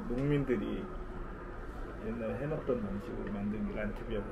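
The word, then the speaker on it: Land: 아 이게 그 독일의 농민들이 옛날에 해먹던 방식으로 만든 란트비어. 아. 란트가 랜드야. 그래서 여기 막 보이잖아. 전통 방식으로. 아 이 맥주 맛있네. 맛있지. 독일의 맥주가 종류가. 아아 랜드를 란트라고 읽는 거야. 란트. 독일어는 란트.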